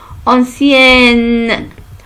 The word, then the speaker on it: ancienne: Et j'ajoute une autre lettre N et se prononce ancienne.